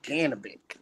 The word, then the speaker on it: Janibek: Janibek? I call him Janibek. Yeah, I do too. too. Pronounced Janibek.